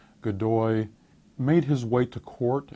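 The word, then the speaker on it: Godoy: government increasingly is dominated by this man Manuel gdoi this is uh gdy that's spelled g o d o y gdoi made his way to court as an attractive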